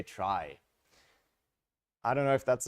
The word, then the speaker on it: trie: as keys so the the name is traced to come from retrieval that's why it's spelled in this awkward way but then tree is kind of taken already and would confuse the heck out of people so instead we say try I don't know if